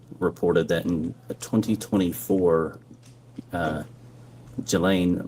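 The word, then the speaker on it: Ghislaine: Um, as best as we know, it's been public reported that in 2024, uh, Gilain Maxwell or Gileain, I think it's pronounced, arranged and wired $1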